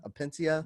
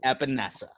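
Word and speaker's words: Epenesa: last name at pencia apentia no no no no trust me my audience read me a new once i ended up mispronouncing that name it is epinessa sorry vanessa say it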